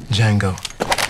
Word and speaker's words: Django: dirty what's your name d Jango DJ a n g o the D is silent adult supervision is required